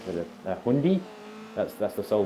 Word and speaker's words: Hyundai: I think it's like Hyundai, but everyone in America just says Hyundai. It is Hyundai. We put more, we throw more syllables in just for the lols rather than shorten it to a two-syllable word.